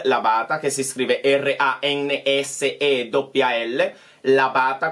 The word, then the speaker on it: Labata: E quindi usate la chiocciola e poi Ransel Labata, che si scrive Ransel Labata, come si pronuncia, tutto attaccato, con B lunga, mi raccomando.